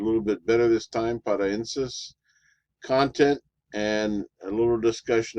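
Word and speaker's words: paraenesis: I've pronounced it a little bit better this time, paraensis.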